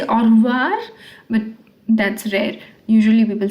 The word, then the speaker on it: au revoir: Au revoir. This r is not pronounced. Some people say au revoir, but that's rare.